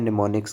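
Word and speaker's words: mnemonics: क्या यूज करते हैं निमोनिक्स का एम साइलेंट हो जाता है इसमें निमोनिक्स का मतलब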